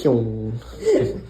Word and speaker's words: Kyung: personal favorite, Luke Kyung, who asked me to say it like that. Kyung.